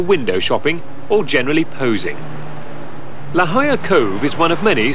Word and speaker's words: La Jolla: the northwest it's spelled la jolla but is pronounced la jolla la jolla spanish for the jewel is another wealthy suburb